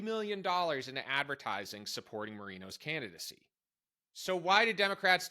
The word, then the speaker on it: Moreno: Earlier in March, Democrats scored a win in Ohio's Republican Senate primary when their preferred candidate, Bernie Moreno, I'm pronouncing that correctly, I looked it up, won with just a little over 50% of the vote.